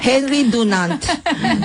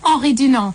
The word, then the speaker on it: Henri Dunant: We always say in the Red Cross, Henri Dunant. Can you pronounce it again? Henri Dunant.